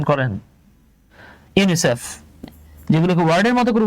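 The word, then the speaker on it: UNICEF: করে উচ্চারণ করা হয় আপনি কিন্তু কখনোই বলেন না ইউএন আই সিই এফ বরং আপনি এটাকে ওয়ার্ডের মত উচ্চারণ করছেন ইউনিসেফ এই যে আমরা পড়ে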